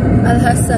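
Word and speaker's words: Al-Ahsa: How to pronounce it? Al-Hasa? Al-Hasa. Al-Hasa, yun.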